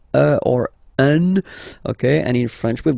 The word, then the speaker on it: un: but you've got to pronounce it like un. So it's what we call the nasal, so it goes in your nose, okay? Un. So if you listen to me, you don't hear any N, okay?